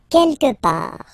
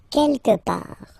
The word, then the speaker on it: quelque part: Quelque part, don't pronounce the final T, quelque part, quelque part.